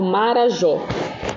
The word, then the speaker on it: Marajó: dessas palavras por exemplo vou dar o exemplo do Marajó Marajó quando a gente fala qual que é a sílaba mais forte o mar curar ou Jó o John né até porque esse acento agudo pessoal faz com que a sílaba fique mais forte tá então Marajó O